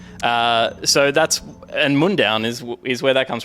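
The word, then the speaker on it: Mundaun: It's like Munich and then down, but it's not spelled like that. Uh, so Mundown is like a kind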